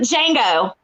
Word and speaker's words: Django: First, you had it's from Django. The D is silent.